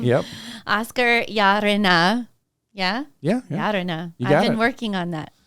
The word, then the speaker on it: Llarena: I mean, we live in Austin in Texas, and so it's usually Lorena. We like, this town loves to pronounce Spanish words in English.